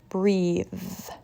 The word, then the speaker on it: breath: versus clothes breath versus breathe the first word is voiceless bath cloth breath the second word is